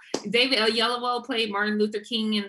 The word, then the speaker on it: Oyelowo: David Oyelowo, I said it right? Yeah. Oyelowo. David Oyelowo played Martin Luther King in that film.